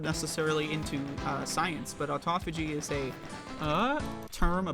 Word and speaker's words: autophagy: say the word uh some of my favorite mispronunciations are Auto fagy um Auto foggy I like autophagy you know when it's actually how it's pronounced um and uh there's